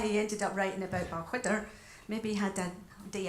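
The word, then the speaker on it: Balquhidder: So the next number is actually taking us to Stirlingshire, which is where Balchwydder is, spelt with a Q-U-H, surprisingly.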